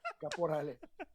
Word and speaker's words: Caporale: mom does, uh, Caporale. But don't Yeah, actually. yeah, yeah, yeah. Then there's the because I grew up in Quebec, so there's the francophone way, which is Caporal.